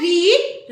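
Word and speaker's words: read: N semi होती है pronounce कैसे किया जाता है रीड रेड रेड ओके ऐसे ही अगर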